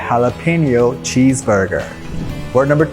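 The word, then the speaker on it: jalapeño: ই এন ও আছে অনেকেই ভুল করে ওয়ার্ডটিকে প্রোনাউন্স করে জ্বালাপেনিও কিন্তু জানেন এখানে যে উচ্চারণ হবে এইচ এর মত সো এটার কারেক্ট প্রোনাউন্সিয়েশন হচ্ছে হালাপেনিও for example I হ্যাড এ হালাপেনিও cheese burger ward number two caramel যার অর্থ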